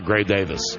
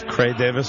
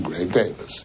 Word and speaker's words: Gray Davis: part where we talk Gray Davis okay cuz morle safer does he still pronounce it as cray Davis yeah and Morley Safer